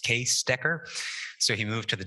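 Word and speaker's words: Cees Dekker: and i found out today that it's actually pronounced case decker so he moved to the decker lab where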